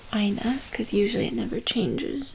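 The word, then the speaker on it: eine: be for nominative is Aina e i n e because when there's an e on the end in German you pronounce it kind of like uh that's how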